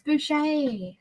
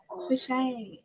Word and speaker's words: Boucher: supposed to be Boucher Street? Yes, Boucher. Boucher. Good Okay, job, yeah, Amy. I'm going to write it down and on an index card. Spell it Boucher. Like Bobby Boucher.